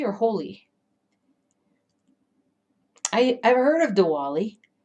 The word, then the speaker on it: Holi: on here boom nice diwali and is it holly or holy i i've heard of diwali i think i'm